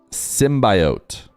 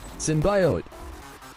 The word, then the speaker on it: symbiote: Please enunciate symbiote.